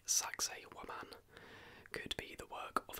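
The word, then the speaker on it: Sacsayhuamán: Sacsayhuaman, I think, is how you pronounce that.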